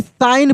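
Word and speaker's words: sign: अब देखिए यहाँ पे जी जो है ना, जी यह साइलेंट है, जी साइलेंट है, यानी साइन पढ़ देंगे, क्या पढ़ देंगे इसको हम लोग, साइन, साइन कैसे पढ़ेंगे, साइन, that said a little, LITTLE, little.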